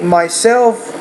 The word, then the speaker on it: myself: But I think myself, the stress is on the second syllable, so I think lesson 30 is also one you can work on.